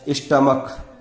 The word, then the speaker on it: stomach: जैसे STOMACH, स्टमक, इसे बोलते हैं हम स्टमक यानी पेट, तो यहां पर CH का उच्चारण हो रहा है क, इसलिए यहां पर प्लूरल बनाते समय केवल S ही लगाएंगे तो STOMACHS, स्टमकस।